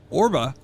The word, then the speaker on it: ORBA: Now, ORBA, right?